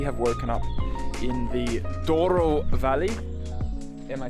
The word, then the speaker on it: Douro: But we have woken up in the Douro Valley. Am I saying it right, Nina? Yes. My little pronunciation girl.